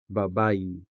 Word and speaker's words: Babayi: Babayi is sometimes spelled with the letter I and sometimes with the letter E, but is always sounded with the native Hiligaynon vowel E. Babayi.